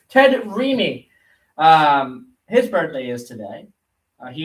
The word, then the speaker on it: Raimi: Ted Raimi. Yeah, I think that's how you say his name. Ted Raimi.